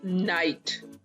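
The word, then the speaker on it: knight: तो next word is नाइट। नाइट, के is silent.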